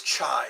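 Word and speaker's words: чай: the month of May it is chai that's how they say it in Russian too chai chai chai we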